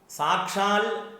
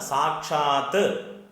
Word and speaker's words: സാക്ഷാത്: അടുത്ത ലൈൻ, അടുത്ത വരിയിൽ സാക്ഷാൽ എന്നാണ് പലപ്പോഴും ജപിച്ച് കാണാറ്. സാക്ഷാൽ ഇൽ എന്ന പദം മലയാളത്തിലെ ഒരു പ്രയോഗമാണ്. സംസ്കൃത ശ്ലോകങ്ങളിൽ ഇൽ എന്നുള്ള പദം ഇല്ല. അത് ത് ആണ്, സാക്ഷാത്ത് ത് ആണ്.